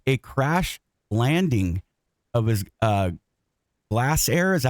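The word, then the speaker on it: Glasair: He survived a crash landing of his Glass Air. Is that how you pronounce that?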